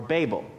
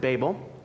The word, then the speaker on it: Babel: Um now the question is do you pronounce it babel or babel? Uh I know some people who pronounce it babel.